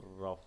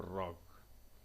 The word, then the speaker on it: rough: लिखते जी से बोलते हैं एफ. रफ, ROUGHC. इट is called रफ, नॉट रॉक.